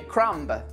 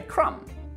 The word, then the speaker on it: crumb: So that's why we don't say crumb, we simply say crumb. Other words with a silent B are bomb, comb, crumb, dumb, lamb, limb, numb, thumb, tomb.